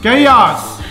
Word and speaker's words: Chaos: Because CH sometimes you can spell it K. Chaos.